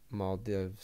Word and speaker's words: Maldives: as that next flag maldives small dives i'm an american that's how i pronounce it uh right behind martinia